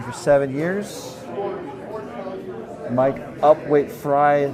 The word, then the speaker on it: Frey: seven years Mike upweight fry his name is pronounced like his favorite vegetable started curling in 2017